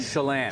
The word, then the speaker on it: Chelan: From, maybe I'm pronouncing this wrong, Chelan, Washington? Chelan.